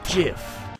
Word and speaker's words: GIF: It's pronounced GIF. Fine. A high-quality GIF.